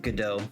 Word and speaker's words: Godot: I know a everybody pronounces GDAU differently. I pronounce it GDO.